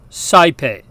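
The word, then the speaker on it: saepe: different sound there but in classical Latin it sounds like I we hear this in the Latin word for often CPE now the dip thong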